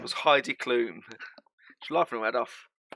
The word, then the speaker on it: Heidi Klum: Or Heidi Doom, shall I say.